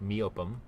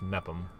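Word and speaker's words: Meopham: for my previous video where I pronounced it me opem apparently it's just met them so there we go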